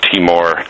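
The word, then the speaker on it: Timor: I know you had done coverage of East teamour Independence of course I'm probably mispronouncing that no you got it right East teamour Independent movement Chevron corporations uh corruption and and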